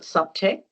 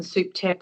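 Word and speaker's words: SupTech: Some people call it subtech, some people call it souptech. I've chosen souptech because it's short for the word supervisory, and it really refers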